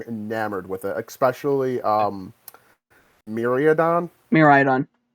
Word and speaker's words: Miraidon: Miraidon. Miraidon, okay. It's kind of important, the pronunciation.